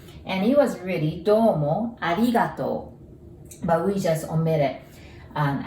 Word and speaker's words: ありがとう: And when you see an OU together, we pronounce it like O, arigato.